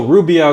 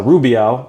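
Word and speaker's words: Rubião: character as uh as Rubio or hubo I think is actually the pronunciation and uh and uh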